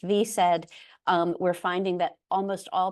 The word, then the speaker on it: VSED: The acronym is pronounced VSED.